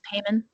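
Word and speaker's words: Paimon: pronunciation the name oh it's payment haman thank you i always want to add another like e sound in there right um respectfully king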